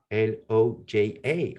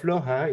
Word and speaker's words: Loja: which is called Loja, L-O-J-A. Always complicate to pronounce Loja, the Jota.